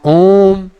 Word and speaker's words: ओम: लिखा हुआ 3 माँ ओम, ओम। तो इसका मतलब है इस ओम का उच्चारण हम ऐसे धीरे से नहीं कहेंगे ओम ओम ओम, नहीं, इसको बोलेंगे ओम, मतलब गूंजना प्रारंभ चालू हो जाए ना।